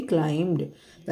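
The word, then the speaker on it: climb: है तो children क्लाइम ब इसमें साइलेंट है बी का बिल्कुल भी साउंड नहीं देंगे क्लाइम द children क्लाइम द hill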